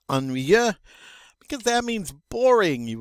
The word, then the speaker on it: ennuyeux: Just by looking at it, it poses people get a little nervous about pronouncing it, but it's really not that bad. It's ennuyeux.